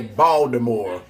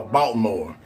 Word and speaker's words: Baltimore: You don't even say the T in Baltimore. Am I right or wrong? There ain't no T in pronounced in Baltimore if you're from Baltimore.